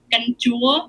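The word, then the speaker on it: canh chua: Oh, it's called ganjua, which is sour soup, or you can put. Usually, you'll find ganjua tam ga, which is fish and shrimp.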